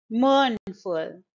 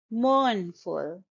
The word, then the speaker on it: mournful: Mournful. It's a two-syllable word, and the stress is on the first syllable. Mournful.